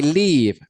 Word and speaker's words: live: L y v e la e no se pronuncia Entonces es completamente muda y queda la B